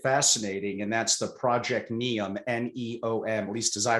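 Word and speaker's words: NEOM: i find it fascinating and that's the project neon n-e-o-m at least as i pronounce it in saudi arabia you gave a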